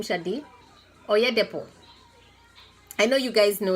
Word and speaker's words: Oyedepo: How do you pronounce his name, Shadi? Oyedepo.